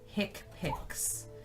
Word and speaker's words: HCPCS: it and it's in the spiral HCPCS is pronounced hick pics it's introduced in 1983 and it comes from